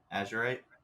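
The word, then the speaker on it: azurite: say a z u r i t e Azure right yeah it says third eye Crown higher Crown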